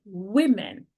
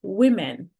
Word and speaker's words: women: Man, men woman women. The pronunciation changes a little bit in this case. Woman, w woman. We women.